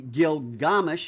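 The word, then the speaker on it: Gilgamesh: And it's like uh I have a little picture here of um the epic of Gilgamish or should be Gilgamish if you want to pronounce it correctly.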